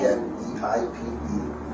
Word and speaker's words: Kneipe: and the Germans call a small pub a Kneipe. They use a lot of K-N words. Okay, how do you say it? K-N-E-I-P-E.